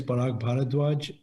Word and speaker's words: Parag Bharadway: My name is Parag Bharadway.